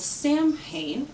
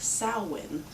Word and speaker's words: Samhain: was used for the Halloween holiday was called Samhain, as it looks, but we'll see as soon as you look at the picture that I'm going to put on, it's actually pronounced Samhain.